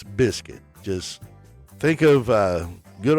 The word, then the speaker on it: Bizcutt: That's pronounced Biscuit. Yes, just like the can of biscuits. It's Biscuit. So. Stop calling me cut.